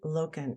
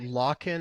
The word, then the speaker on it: Loken: is here today and hopefully I'm pronouncing your name right is that proper you got it yeah I used to get locking or Logan so you got it first try welcome to high road